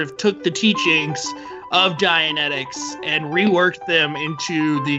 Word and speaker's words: Dianetics: Dianetics, right. What did I say? Dialectics.